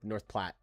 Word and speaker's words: North Platte: I know someone knows how to pronounce this. I know someone knows. Someone's got to know. Platte? Okay, good. North Platte.